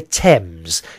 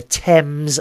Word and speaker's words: Thames: No, it's called the Thames. You don't say the H, okay? So it's the Thames River.